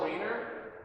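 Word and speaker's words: Wainer: Last name is spelled like waiter, but instead of a T, it's an N.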